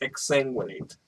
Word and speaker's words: exsanguinate: don't know how to say accentuate exsanguinate it's exsanguinate exsanguinate there we go wow you're were the